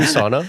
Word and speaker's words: sauna: How do I say sauna? Sauna. I think that's how the Finnish say it.